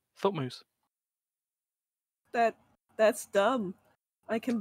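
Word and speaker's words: Thutmose: brutal moose i'm sorry t-h-u-t-m-o-s-e h-u but pronounced thought moose that that's dumb i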